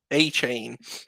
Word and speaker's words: Achane: Achane. No, Like literally a chain. Devin Achane is how we say it in Florida.